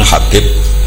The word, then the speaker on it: Habib: yang nulis Abi ahman Habib asulami itu di harakatnya kitab itu ada yang nulis Sub yang benar Oh Nggih yang benar itu bacanya habib habib itu asulami itu ikut